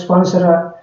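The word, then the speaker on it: Spencer: இது வந்து Percy ஸ்பென்சர் ஸ்பான்சரா, Percy ஸ்பென்சரா இது எப்படி உச்சரிக்கணும்னு தெரியல, நீங்கள் எப்படி வாசிப்பீங்க கரெக்டாக வாசிங்க.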